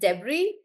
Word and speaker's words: debris: So there will be some words that will have extra letters which are not pronounced. So guys this word is pronounced as debris which basically means the